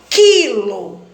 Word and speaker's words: quilo: é considerado encontro vocálico quilo aqui o que o e digrafo porque o som do Uno não foi pronunciado que quilômetros aqui também